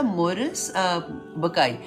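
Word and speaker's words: Maurice Bucaille: नाम था मोरिस बकाई अब क्योंकि ये नाम जर्मन नाम है इनको डिफरेंट तरह से प्रोनाउंस करते हैं तो मैं अपनी जुबान से आपको बता रही हूं कि उनका नाम जो है वो मोरिस बुकाई था अच्छा अब ये क्या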